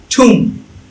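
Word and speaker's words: tomb: If there R M plus B, যদি এম এবং বি একসাথে থাকে, এন্ড no vowels after B, বি এর পরে কোনো ভাওয়েল নাই, তাহলে বি রিমেইন সাইলেন্ট।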